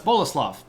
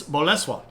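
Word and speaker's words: Bolesław: I said oh that's boleslav that is not how you pronounce that word it's Boles that's how you pronounce that word according to the the Polish sources that I found Bola so there you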